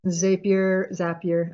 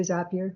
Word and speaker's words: Zapier: this is Tony mentioned Zapier. I guess Americans say Zapier. We say Zapier.